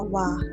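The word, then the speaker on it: は: Tapi memang di dalam kalimat bahasa Jepang sendiri untuk penulisan wa itu memang menggunakan huruf hiragana H, tapi dibacanya wa.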